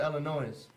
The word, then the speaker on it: Illinois: I know I always pronounce it Illinois.